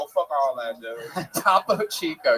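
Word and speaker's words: Topo Chico: Tapo Chico. Yes, that is exactly how that's pronounced.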